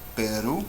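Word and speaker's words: Perú: This word, Peru, Peru, you can hear my voice goes up at the end. So ru is the last syllable.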